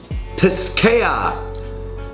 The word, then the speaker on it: Piscaya: This one's, let's see, they got a little thing here, tells you how to say it. Piscaya.